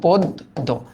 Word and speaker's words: পদ্য: Sorry কি লিখলাম এটা, পদ্য। মনে রাখতে হবে আদ্য অ এর পরে, এই যে আদ্য অ এর পরে যদি জ ফলা থাকে তবে অ এর উচ্চারণ ও এর মতো হয়।